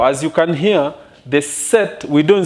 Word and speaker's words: sept: Now, as you can hear, the set, we don't say sept. No, even if the spelling looks like to be, the spelling is sept, but the pronunciation is set.